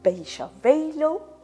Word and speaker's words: Beychevelle: Alors, excuse-moi Stéphane, Bécha velo, parce que le A se prononce O en gascon.